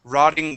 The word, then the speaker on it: rotting: go to rotting okay so Double T to a d rotting wood uh Rod roding